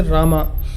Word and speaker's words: Rama: a video on that in the South we say Rama in the north they say Ram same devotion but different expression so what will you